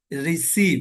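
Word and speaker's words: receive: चा से होता है अगर सी के बाद वाई आई ई में से कोई एक लेटर आए तो उसका तलफ्फुज सीन से होगा जैसे रिसीव सी के बाद ये इसको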